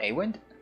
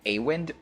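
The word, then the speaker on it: Eyvind: 1, I kept on calling him Awind, but in the recap of Banner Saga 2, I heard his name to be Iwind. So now I'm like jumping back and forth towards to like different pronunciations of his name. So I just call him mostly like Iwind.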